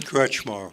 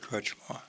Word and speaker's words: Kretzschmar: don't want to say that this gentleman's last name wrong so tell everyone your full name crutchmore crutchmore there you go this guy's easy I could